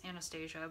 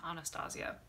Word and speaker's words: Anastasia: I've always pronounced it as Anastasia, but the brand I believe pronounces it Anastasia.